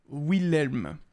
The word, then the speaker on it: Wilhelm: il y a deux parce que le H remplace un deuxième Elme elle pardon comme dans gentilhomme mais la prononciation du L est acceptée comme variante du nom Wilhelm après ça ça ressort